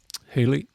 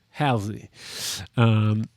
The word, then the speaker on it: Halsey: Great vocalists, by the way, Khalid and Haley, I believe that's how you say it. Halsey.